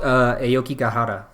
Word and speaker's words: Aokigahara: It's called Aokigahara. So yes. Maybe if you know who Steve Aoki is, that's how I know how to pronounce that. That's Steve Aoki.